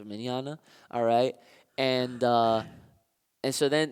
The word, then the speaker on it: Mignogna: still reprised by a vic Mignogna manana that's how that's how you pronounce manana alright and and so